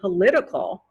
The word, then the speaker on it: political: pronounced the t sound but if you change it to political then the t comes changes into a d sound with the american accent political the next word